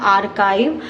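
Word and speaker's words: archive: इसकी प्रोनाउंसिएशन क्या होती है, आर्काइव।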